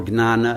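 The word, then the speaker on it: jñāna: But remember, jnana or gnana, as it's pronounced in the Gujarati, what derives from that is the word gnosis in the Greek.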